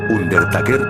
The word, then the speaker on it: Undertaker: me daba miedo era el undertaker se pronuncia under taker o como le decían